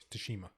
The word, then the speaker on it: Tsushima: Tsushima. That's how you pronounce it.